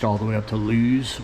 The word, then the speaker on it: Lewes: And reached all the way up to Lewes, or Lewis, some people pronounce it.